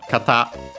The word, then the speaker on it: kata: But in the other one, kata should be accented on the last syllable, but we'll check.